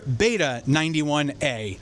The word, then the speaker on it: Beta 91A: We've all been saying it wrong. It's the Shure Beta 91A.